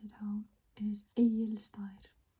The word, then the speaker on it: Egilsstaðir: on to just words that are hard to pronounce sometimes, I guess. This place we have, or town, it's a town, is Egilsstaðir. Egilsstaðir.